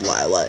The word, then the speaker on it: Lila: They love Lila Crawford. Her name is Lila, by the way, not Lila. I know I pronounced it Lila in the past. It's Lila, for the record.